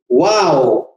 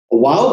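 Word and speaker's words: واو: वाव, ये चौथा लेटर है। वाव कैसे अदा होगा? Pronounced by the rounding off both lips, मुंह को गोल दायरे की शक्ल में ले आएंगे।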